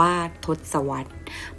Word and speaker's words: ทศวรรษ: และ ช่วง เวลา ของ ทศวรรษ ศตวรรษ และ สหัสวรรษ ตัว ชี้ วัด รับ ช่วง เวลา เป็น ทศวรรษ ศตวรรษ และ ทศวรรษ อ่าน ว่า ทศวรรษ หมาย ถึง ช่วง เวลา